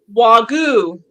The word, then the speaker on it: Wagyu: She's going to go into, see, how do you pronounce this cow? It's a Japan. What Wagyu.